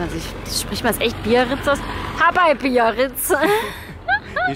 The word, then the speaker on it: Biarritz: Biarritz. Bei Biarritz. Das vergisst du immer, gell? Ja, also spricht man es echt Biarritz aus?